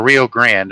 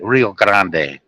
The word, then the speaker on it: Rio Grande: I'm like 20 miles from Mexico, the Rio Grande, or Rio Grande, as the Americans say, but it's actually Rio Grande because it ends in an E.